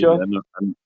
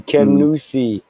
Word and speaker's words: Kenosha: Kenosha. That's crazy. I've never heard that. Maniwaki is. Kenosha. It should be Kenusi, which roughly means place of the pike.